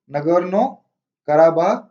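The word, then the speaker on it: Nagorno-Karabakh: आप इसको कैसे भी प्रोनाउंस कर सकते हैं, अरब वर्ल्ड में इसको अलग तरीके से प्रोनाउंस करते हैं, इंडिया में अलग और चाइनीज अलग करते हैं।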